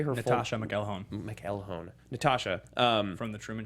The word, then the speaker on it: Natascha McElhone: And what is her how do you say her Natascha McElhone McElhone.